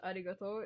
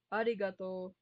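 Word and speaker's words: ありがとう: You forgot the u. The u. You will always have an u because arigato is arigato. Something like that. It will always have a longer pronunciation at the end.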